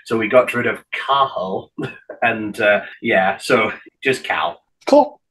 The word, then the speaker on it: Cathal: And so the guy interviewing him used his Irish Gaelic name, which it's spelled Cathal, C-A-T-H-A-L. Though I know, but it's pronounced Cahal because you don't pronounce the T, so Cahal.